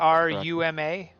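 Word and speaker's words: Tarumã: This one is Taruma International. I hope I'm pronouncing that Taruma.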